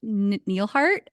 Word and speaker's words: Nelhart: Nelhart. And if I pronounce it, Nelhart, yeah.